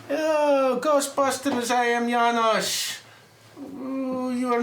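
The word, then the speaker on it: Janosz: It's Janosch.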